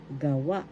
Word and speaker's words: gawa: gah ga gah ga gawa gawa in english made of reason first syllable ka third syllable wa the accent is in the second syllable gawa gawa gawa in